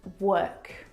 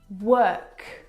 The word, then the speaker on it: work: word world and work now you're probably mispronouncing these words because you are looking at the o r and you're trying to pronounce the vowel sound o like in do but this is incorrect the vowel sound is actually uh as in her work world word uh